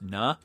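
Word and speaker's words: نا: It ends with an alif, but it's not pronounced na like a full alif. It's just na.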